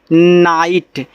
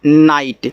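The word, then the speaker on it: night: तो इसको पढ़ते हैं नाइट देखो याद रखना आई जी एच टी आपका आइट होता है क्योंकि यहां जो आपका जी एच है यह साइलेंट रहता है ठीक है तो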